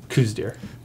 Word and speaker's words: Coues deer: yep I do you know there were multiple pronunciations of this word dear co u es space d ee r coues deer nice tricky one but Dale got it done